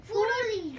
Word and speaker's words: ফুলুরি: ফুরুলি ফুরুলি নয়, ফুলুরি ফুলুরি। ফুলুরি ফুলুরি ফুলুরি ফয়ের পরে ল।